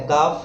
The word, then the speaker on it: calf: है काम, PALM palm, CALF में L साइलेंट है काफ हाफ।